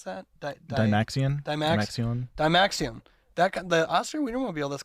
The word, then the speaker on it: Dymaxion: It kind of looks like how do you pronounce that? Dymaxion.